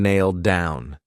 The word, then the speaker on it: nailed down: So because I have a D sound on down, and these two go together, I'll pronounce it as one, and you'll only hear one D sound nailed down. Nailed down. So it's pronounced exactly the same as nail down, but if you say it together, that D is used for both.